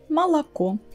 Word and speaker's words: молоко: The first two о, they are not stressed, we pronounce them as а, мала. And the last one is the only one stressed, ко, молоко.